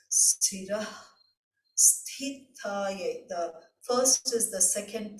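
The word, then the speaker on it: स्थूलसूक्ष्मकारणा: The 591st name, Sthūla-Sūkshma-Kāraṇa, for the pronunciation, it is the middle sa, it's not sha, it's not sa, but sa, sira, the ha with the dot, there is a stress, sira, Sthūla-Sūkshma-Kāraṇa.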